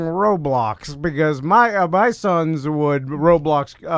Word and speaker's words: Roblox: Because my sons would Roblox. It's Roblox, Huh? not roadblocks.